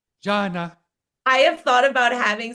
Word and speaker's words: Jana: You're like, Jana. I have thought about having somewhere on my website, like click to hear the pronunciation, like my name, like highlighted.